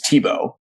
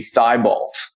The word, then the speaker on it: Thibault: name is spelled t-h-i-b-a-u-l-t I'd say the oddest pronunciation of it is the real way which is Tebow um the the most simple pronunciation of it would be thigh Bolt right yeah so I